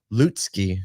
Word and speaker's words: Lutsky: Thank you, our good friend Michael Lutsky is how you say it, actually. Lutsky.